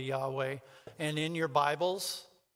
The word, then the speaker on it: Yahweh: name which is what it's y-h w h right we pronounce it probably Yahweh and in your Bibles